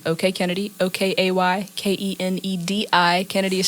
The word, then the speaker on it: Kenedi: under the same name um my name okay Kennedy okay k-e-n-e-d-i Kennedy is spelled strange because my mom wanted to be